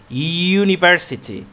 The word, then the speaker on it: university: And then we have university, university, and this is why we put the article a before u. Yes, many people are confused that they say an university.